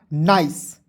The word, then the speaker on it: nice: उसके बाद NICE, तो एन का ना लिख दीजिएगा, और किसी भी वर्ड्स के अंतिम में ICE आएगा, उसका उच्चारण दोस्तों आइस के रूप में करेंगे। क्लियर? तो हो जाएगा नाइस।